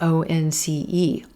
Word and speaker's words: once: Here the letter O actually sounding like the W sound in O-N-C-E, once, once.